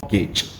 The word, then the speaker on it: mortgage: And the T is unfortunately useless. It's a kind of loan that you have to pay back on the purchase of a property or an asset. Yes, it is mortgage.